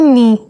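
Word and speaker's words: knee: और घुटने को घुटने को कहते हैं नी। इसका के साइलेंट है। इसलिए इसे हम कहेंगे नी।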